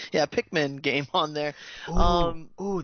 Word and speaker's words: Pikmin: easily do a pink, how do you pronounce it? Pikmin? Yeah, Pikmin game on there.